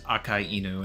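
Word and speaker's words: Akainu: wild yeah I know it's pronounced AKA enu as in red and dog AKA is red and en's dog but I don't know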